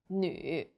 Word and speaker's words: 女: The U sound is like the French U. Your lips should be round and pouting. 绿, 女.